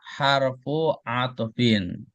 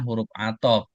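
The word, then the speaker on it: حَرْفُ عَطْفٍ: Perhatikan cara bacanya. Wa harfu atfin. Jadi ee memang kita kenalnya huruf atop, tapi ee huruf atop itu kan bahasa kita, bahasa Indonesia. Tapi kalau bahasa Arabnya harfu atbin.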